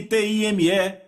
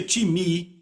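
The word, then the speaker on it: τιμή: A palavra honra vem do grego timi, que se soletra time, T-I-M-E. Eu digo time porque é a nossa pronúncia, mas se pronuncia timi e quer dizer uma valorização.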